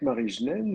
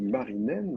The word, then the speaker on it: Marijnen: Donc, je m'appelle Marie-Genen, ou Marinen, on dit, on ne prononce pas le J.